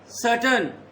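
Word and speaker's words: certain: Make सर्टन first. सर्टन आर is silent.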